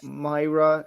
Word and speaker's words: Moira: say thank you to Carla, Myra.